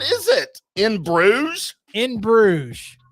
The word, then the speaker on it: Bruges: it in Brews in Bruges it's not even a word it's a place you would probably pronounce it Burgess so does it start